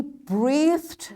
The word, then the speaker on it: breathed: She breathed loudly. Breathed. Now you see, here this digraph is giving its hard sound, the. That's why we'll pronounce this ed as d.